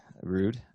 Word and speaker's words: Ruud: We also have Ruud. Ruud, is that how you say it? No, you're saying it right. Okay. You're saying it right. Okay. Nobody wants to say it, but it is Ruud.